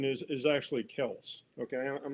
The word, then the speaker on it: Kelce: It's not Kelsey, it's Kels.